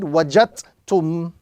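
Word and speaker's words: وجدتم: So in pronouncing, we ignore the dal and we read wajadtum.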